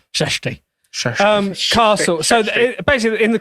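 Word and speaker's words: Csejte: Peasant girls are looking for servant work in, it's C-S-E-J-T-E. CSEJTA. Shashta. But you have to say it like Tommy Cooper. Shashti.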